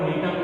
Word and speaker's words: Gnetum: और यहाँ पर जो ये जी लिखा हुआ है, ये जी क्या है? यहाँ पर साइलेंट है। जैसे हमने गिंगो जो प्लांट पढ़ा था GINK0, गिंगो में के साइलेंट होता है और जो नीटम का जो प्लांट है